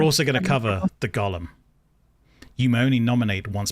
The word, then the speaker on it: golem: how this is pronounced i hear so many people saying gollum is in like lord of the rings when it's a golem let's go lem not garland continue uh yeah i